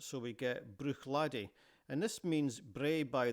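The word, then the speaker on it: Bruichladdich: On the western shore of Lockendal we come to Brook Ladi. Now in this word the ch at the end is silent. So, we get Brook Ladi, and this means Bray by the shore or slope by the shore.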